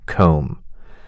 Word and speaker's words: comb: Silent B for words like doubt, subtle, comb.